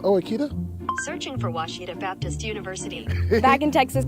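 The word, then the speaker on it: Ouachita: Uh, I've heard people say Oitta. Oahita. Oitta. Is it pronounced Oita? Searching for Washita Baptist University.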